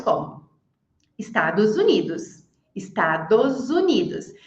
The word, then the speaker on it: Estados Unidos: Estados Unidos. Se eu fosse falar só estados, seria com som de S. Agora, Estados Unidos ficou um som de Z ali.